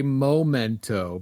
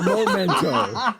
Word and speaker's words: memento: I say momento because Oh, really? Okay. I think it's a token from a moment. Not a memento. It's a memento.